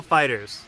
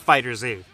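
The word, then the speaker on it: FighterZ: today we're talking about the much-anticipated Dragon Ball fighters yes that's how you pronounce it I always screw it up it's not Fighter Z this is a very interesting game just because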